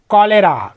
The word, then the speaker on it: cholera: CHOLERA, कॉलेरा।